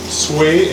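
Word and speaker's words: swai: And the fish is what we call it's spelled sway, S-W-A-I, so it's an imported fish, but it doesn't taste fishy.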